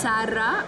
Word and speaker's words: Sarah: But it's just pronounced Sarah, so it's just a roll of the R's.